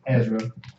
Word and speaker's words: Ezra: Ezra and Esdras are the same person. One is pronounced in the Hebrew, one is pronounced from a Greek translation.